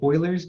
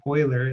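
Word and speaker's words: Euler: and it's also called Oilers number um after a German mathematician named Oiler it looks like it should be pronounced but since it's in German it's pronounced a little differently EU for Oiler okay the natural exponential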